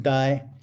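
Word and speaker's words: 呆: This character, the one you see on the top, it's pronounced die, and it means stupid.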